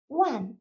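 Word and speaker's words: 万: 링이라고 읽어주시면 되겠고요. 100은요. 빠이, 천은요. 치엔, 만은요. 완 읽어주시면 되겠습니다.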